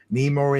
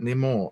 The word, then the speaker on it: Namor: really know much about Namor, or Namor, however you want to pronounce it. I'd say Namor, but yeah, it's kind